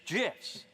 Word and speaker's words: GIF: the graphics interchange format Steve Wilhite says it's Jess this person's gonna die choose this person gun